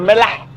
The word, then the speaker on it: Mellah: He's gonna show me the Melah. Yeah, let's go. Marrakech. Now I say it correctly. Melah. Yeah, the Mela. Melah. Yeah. It's like salt in Hebrew.